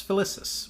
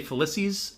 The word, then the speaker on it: Felicis: covering chapter 14 Felix Ficus which always gets me I want to say felices every single time me too but it's spelled f l i c i Ficus whatever Julie is with